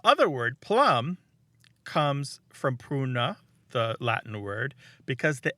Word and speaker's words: pruna: what a road but and that word was pruna Martha how's my pronunciation on Latin it's p r u n